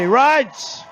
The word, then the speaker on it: Reince: Reince!